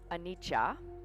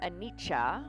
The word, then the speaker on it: anicca: for a long time and he spoke around anitcha which i've mentioned in this kind of sunday